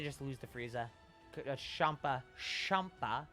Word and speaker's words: Champa: lose the Frieza Champa Champa because you supposed to pronounce it like champagne Champa seems a bit